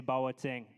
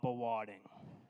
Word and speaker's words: Bawating: and thankfully teaching me the proper way to say bawating, not bawading.